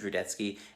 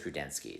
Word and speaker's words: Rudetsky: but you know what my last name is rudetsky and everyone says rudensky so no one knows how to pronounce anything in the world anyway hang in